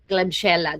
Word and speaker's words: Klebsiella: Klebsiella, that's how you pronounce that.